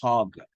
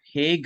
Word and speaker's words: Hague: In India, we always pronounce this word hog, but Hague is the right pronunciation for this one, Hague.